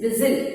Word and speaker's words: whistle: Pronunciation, this is not whistle, this is whistle. T is going to be silent here.